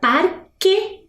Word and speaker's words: parque: Na palavra parque, eu tenho um dígrafo, porque o U some.